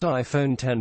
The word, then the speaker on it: iPhone X: 8 plus with the iPhone X pronounced iPhone 10 being the flagship model